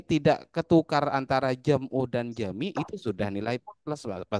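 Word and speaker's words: جميع: ulangi kalau ada ya-nya tidak mungkin dibaca jam'u tapi dibaca jami. Jami. Kalau nggak Jami. percaya, lihat di kamus. Tuh, ketik jim min ya ain ya bacanya jami bukan jam'u.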